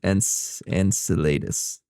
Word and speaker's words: Enceladus: It's pronounced Enceladus.